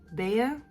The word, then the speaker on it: Bea: Oh, Bea? That's how you pronounce the beginning of my name.